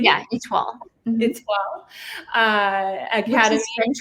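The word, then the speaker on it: Étoile: Did I pronounce that correctly? Yeah, ITWA.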